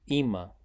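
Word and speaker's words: אמא: Wallace e o meme o e pronuncia-se ima mãe Wallace tem o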